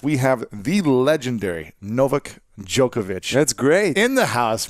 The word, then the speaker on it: Djokovic: of greatness podcast we have the legendary Novak jokovic that's great in the house man you pronounced it very well pronounce the way you